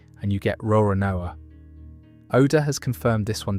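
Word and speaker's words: Roronoa: Say the surname the way Japanese pronunciation handles it and you get Rorinoa.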